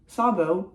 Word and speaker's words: Szabó: And corrected my pronunciation of Szabó with an S as opposed to a Z.